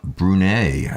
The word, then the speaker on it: Brunei: ahead listen there was I think soo from Brunei sbr un e I did I pronounce that correct I brunei Bruno yeah where